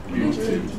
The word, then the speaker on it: looting: Looting. Listen. Looting. Looting. Everyone together, looting. Looting. Andrea? Looting. Lovely. Looting. Looting. How many syllables? Two. Where's the stress? Looting. Looting.